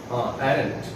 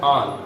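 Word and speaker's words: aren't: ए आर, एरेंट। इसको एरेंट American बोलते हैं, लेकिन इसको का जो प्रॉपर प्रोनाउंसिएशन है वो है आन, आंटी से आंट।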